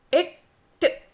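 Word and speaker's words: எட்டு: Next is 8 in Tamil is എട്ട്. എട്ട്. Right? You really have to pronounce the T part.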